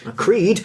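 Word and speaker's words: Criid: Creed, but Creed is spelt with E's, not EASE, because her name is actually difficult to spell.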